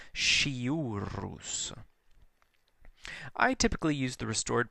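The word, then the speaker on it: sciurus: And then shiurus, the SC in front of an I or an E is pronounced like an English SH, shiurus.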